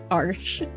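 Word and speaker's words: Arches: my favorite is AR arsh I I learned how to pronounce that arsh so that's my favorite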